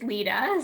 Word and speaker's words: Lida: of the Maria Lida Foundation, and it is Lida, so great job with the pronunciation on that.